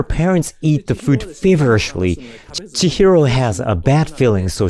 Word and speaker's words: Chihiro: nine minutes she's set those parents I mean she heroes parents I keep saying her name wrong while her parents eat the food feverishly Chihiro has a bad feeling so she leaves the